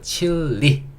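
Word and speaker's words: Chile: 그래서 칠레가 아니고 칠리. 예, 우리는 이걸 에 소리 내서 칠레라고 우리가 발음하고 있지만 영어에서는 칠리 리라고 발음해주셔야 된다.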